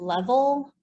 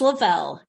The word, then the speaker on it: Lavelle: i saying it correctly is it level because it's it's got a hyphen in it it's super complicated so yeah it's like a little bell level so it's lavelle yes uh they're best